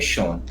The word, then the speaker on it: Sean: Então, mas a pronúncia correta, por ser um nome de origem irlandesa, é Sean.